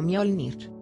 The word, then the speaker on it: Mjolnir: te la sabes pero este martillo se pronuncia como mjolnir imagen de marvel 311 diapositivas